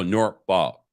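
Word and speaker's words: Norfolk: chat uh dom says you don't pronounce the l when um when referencing nor vote so nor ball virginia not sure about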